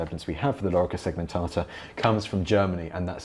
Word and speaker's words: lorica segmentata: precise phonemic vowel length, this vowel, the O and the E, are both long, so it's lorica, and then segmentata. So this A is long, so lorica segmentata is how you pronounce it.